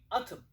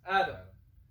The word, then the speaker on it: atom: so small, or just atom, like, or how to pronounce, I don't know. Atom. So like it sounds like Adam, Prophet Adam. Atom. You can say the T one.